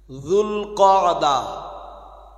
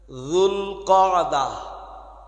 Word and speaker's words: জুলকদা: জুলকদা একটু সম্ভব হলে মুখস্ত করে নেন। জুলকদা আমাদের দেশীয় মানুষরা এত ভালো উচ্চারণ না করতে পারায় প্রচলিতভাবে বলেন জিলকদ।